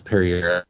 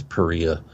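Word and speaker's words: Pereira: are very famous um like it looks like it's Perry I think it's Perea but I've been pronouncing a pair for so long anyways William Pirrie a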